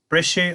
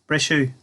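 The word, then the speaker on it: Briseadh: Brishu an inniog. Brishu. Brishu an inniog. The window was broken. It's the past tense, the u ending, pronounced u.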